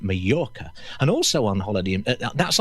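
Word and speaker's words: Mallorca: And they go on holiday in Majora and they pronounce it with a J. Actually the locals pronounce it Morca.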